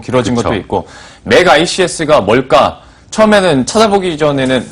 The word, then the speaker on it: 멕아이씨에스: 만들겠다이 회사의 철학도 반영이 되 있는 이름입니다 어 맥 ICS 그래서 이렇게 발음을 하고 있고 어 사명을 그 의미를 따지다